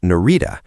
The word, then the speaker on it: Narita: Thousands were stranded overnight at Narita, pronounced Na-ri-ta, the region's main airport.